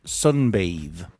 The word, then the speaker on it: sunbathe: You hear the pronunciation is different from bath. Now, in English, when we add this magic E, which is actually silent, to the end of a word, we change the vowel sound previously to the name of